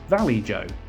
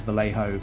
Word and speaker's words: Vallejo: Uh, in all seriousness, I know that the uh, brand is Vallejo, but it's a bit of a nod to my original video where I kept saying it wrong. Um, but in fairness, if they're not going to spell color correctly, I'm not going to pretend a J is a H either.